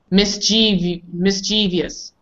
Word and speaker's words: mischievous: It's almost the same, except we really don't take a break. Mischievous. Where the miss is. People say mischievous.